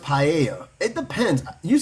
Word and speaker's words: paella: I've heard it pronounced paella. It depends. You say pa, but I heard pa because the double L is I mean no the L is Y. Sorry. The double L in Spanish when it was in